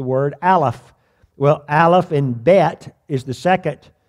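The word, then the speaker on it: בית: The word, it's spelled Beth, but it's pronounced Bet.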